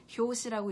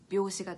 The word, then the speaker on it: 拍子: 앞에 톤톤이라고 하는 게 붙었기 때문에 효시라고 읽지 않고 묘시가 돼요.